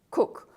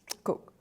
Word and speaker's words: Kuk: of Papua New Guinea called Cook, and it's spelt K-U-K, Cook, a few miles from where the first Australians to come to Hagen in 1933 set up camp.